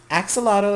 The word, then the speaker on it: axolotl: So, axolotl is the proper way because it has ax, A-X, and I pronounce it axolotl because, axolotl. So, it's not ox like O-X.